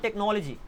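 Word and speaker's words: technology: नामो निशान नहीं राइट ऐसे ही आपने बोला टेक्नोलॉजी तो टेक्नोलॉजी में क का साउंड आ रहा है यहां पर अगेन एच साइलेंट हो रहा है वाई आप बोलते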